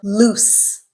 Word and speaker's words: lose: the verb form of loose to summarize loose with the z sound is a verb loose with the S sound is an adjective it describes nouns it